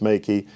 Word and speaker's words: Meike: But I've been calling it the Meike MK320 flash, but it's pronounced Meike.